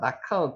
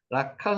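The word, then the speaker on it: לקח: 영접하다 이런 뜻도 있습니다 라카흐 기억하시기 바랍니다 라카흐 한번 해보시겠습니까 라카흐 라카흐 라카흐 카흐게 카입니다 라카흐 카 이게 흐는 발음을 크게 이제 흐 이렇게 하치는게 라카 이렇게 발음이 그냥 저저 약하게 나오는 거죠 카 예 카 예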